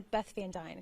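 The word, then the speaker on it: Beth Van Duyne: All right, and you're Beth Van Dyne, correct?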